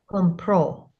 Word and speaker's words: compró: It becomes Compró. compró. Pro. Compró.